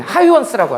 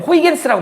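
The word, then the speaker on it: Huygens: 대표적인 하이원스라고 하는, 니네는 호이겐스라고 많이 들어봤을 거야. 하이원스라 그래, 영어식 발음으로.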